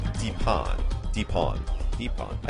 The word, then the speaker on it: Dipan: Deepon.